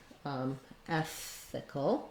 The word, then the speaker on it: ethical: Then when we move to ethical, we still have first syllable stress, and we still have the, it looks like I made a spelling error there. Ethical, no E there. We still have the same pronunciation. So we still have the F sound, the TH, and the K sound. We just don't have our S, and then our CAL letters say the cul sound.